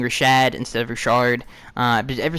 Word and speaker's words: Rashad: He says, why do you pronounce Rashard Jones instead of Rashad Jones?